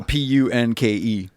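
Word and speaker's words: Punke: no i think it's i think he doesn't pronounce the e i don't think it's like a punky i think it's punk yeah damn sorry michael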